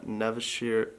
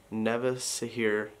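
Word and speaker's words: Nevşehir: or good morning from nevishir no he told me yesterday i was saying it wrong nevisa here turkey i'll see you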